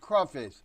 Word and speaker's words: crawfish: Here it's spelled with a W instead of a Y, and it's pronounced crawfish.